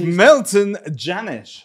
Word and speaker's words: Milton Jannusch: This is Milton Jannusch, right? Yeah, right? I pronounced that correct.